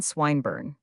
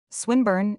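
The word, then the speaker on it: Swinburne: "This man Swinburn," he began, attempting to put his plan into execution and pronouncing the ilong. "Who, Swinburn?" he repeated with the same misprononunciation. the poet. Swinburn, she corrected. Yes, that's the chap, he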